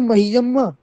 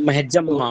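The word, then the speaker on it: मह्यम्: हो, संयुक्त हो तो तो या का उच्चारण या का उच्चारण ज करना चाहिए। जा जी जी। जा करना चाहिए। जैसे उदाहरण में संतु मस्जम्मा, संतु महियम्मा। हाँ महियम्मा जो बोलते हैं, तो महजम्मा, महजम्मा, संतु महजम्मा।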